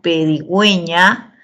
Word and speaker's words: pedigüeña: la 4 está correcta pedigüeña la lleva diéresis porque porque esa u se pronuncia y bien es necesario que lleve diéresis porque si no serías pequeña después tenemos subconsciente bien